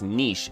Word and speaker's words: niche: Like it's niche. It's pronounced like kiche.